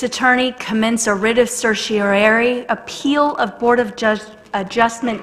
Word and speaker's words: certiorari: It is hereby moved that the city land use attorney commence a writ of certiorari appeal of Board of Adjustment decision in case number 18-12-CU.